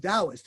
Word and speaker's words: Taoist: tommy with his uh taoist instruction that is pronounced taoist it's spell tau but it's yes each passage